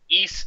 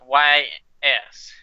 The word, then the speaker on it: Ys: It's called a Ys 8. It's spelled with Y-S.